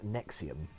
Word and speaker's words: NXIVM: She was a senior member of a sect called, it's spelt NXIVM, so it's all like Latin letters, and it's pronounced Nexium, and it purported to